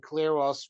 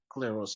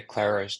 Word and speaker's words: Kleros: would be a terrific Kleros judge. What kind of judge? You say Claros judge. It's spelled Kleros.